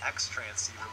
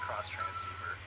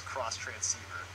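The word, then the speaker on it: Xtransceiver: that's the cross transceiver a lot of people say it's ex transceiver but she actually says cross transceiver basically this item will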